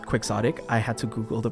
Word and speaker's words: Quixotic: And yes, it is pronounced Quixotic.